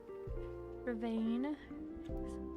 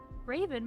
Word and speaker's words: Ravane: You can also, how is your username pronounced? Ravane. Because my brain wanted to read it as Raven, but that's not correct.